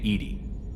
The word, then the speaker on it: EDI: why are you named Edy Ed is the phonetic pronunciation of Eed that is an acronym